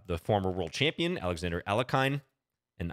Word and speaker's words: Alekhine: champion Alexander elakain and I know there are various pronunciations of his name I'm kind of saying it uh the way that I grew up saying it but uh you can if you want to Google and uh look for the correct pronunciation it's a little closer to like El jochen as far as I understand but please don't uh